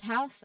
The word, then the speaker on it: half: Now, L is silent before an F. Look at half and calf. Again, the L is not pronounced, so it's half and calf.